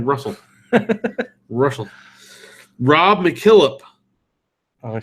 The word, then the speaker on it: Rachel: Rachel. That's Rachel. Russell. It's pronounced like Russell.